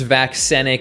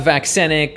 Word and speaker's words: vaccenic: So vaccinia, vaccenic, I'm pretty sure that's how it's pronounced.